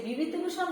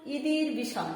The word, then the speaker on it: বিভূতিভূষণ: মানে এই যে আমাদের লেখকের নাম হচ্ছে বিভূতিভূষণ বন্দ্যোপাধ্যায়, কিন্তু এখানে ওকে বলা হয়েছিল ইদির বিষণ, এজন্য সে রেগে গিয়েছিল।